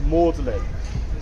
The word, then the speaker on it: Magdalene: chose Mary Magdalene and he wants it to be pronounced in the French pronunciation which have it pronounced Morin people think he tried